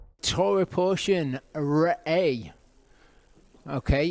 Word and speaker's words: Re'eh: You've got an alif that takes on the sound of the vowel which is an a sound and then you've got a hey at the end which is pretty much a silent letter in this. So it's re a is how you say that.